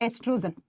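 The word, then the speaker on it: oestrogen: पहला होता है एस्ट्रोजन, लिखा जाता है ओ से, प्रोनाउंस करते हैं ई से, एस्ट्रोजन हार्मोन।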